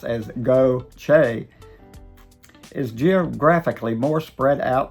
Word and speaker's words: Gautier: Gautier, spelled G-A-U-T-I-E-R and pronounced as Go-Che, is geographically more spread out than Ocean Springs, with neighborhoods stretching along Highway 90, wooded areas, and golf communities.